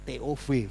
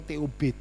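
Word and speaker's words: טוב: Ya, TOV, TOF bacanya ya. Nah, bisa TOV atau TOB, top.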